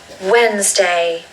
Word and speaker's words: Wednesday: All you need to do is say the word when with an S and then day. Wednesday, Wednesday.